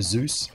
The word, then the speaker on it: ASUS: ask an Isis person I say ASIS but apparently is most closer to Zeus Zeus I really should